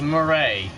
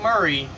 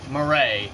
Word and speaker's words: Murray: Jones also Billy Jones name is Billy Jones morray not Murray morray as he pronounces it morray countless times he's